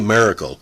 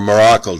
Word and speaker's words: Maracle: of Henry Elmer buddy Miracle or Morocco depending on your pronunciation he had played Pro